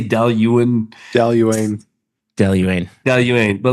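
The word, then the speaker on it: Dailuaine: Daluane.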